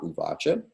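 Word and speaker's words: uvāca: So, in the transliterated Sanskrit here, we see once again the bar over an A in the second word up top, uvacha. So long A as described before.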